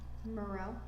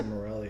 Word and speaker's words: Morel: But also this brand, I always say it wrong. Morel. Yep. I always want to say Morelli, and I was like, I don't know why.